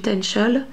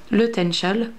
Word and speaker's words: Taennchel: J'ai oublié de vous dire que la montagne du Tenchel, son altitude est de 988 mètres d'altitude.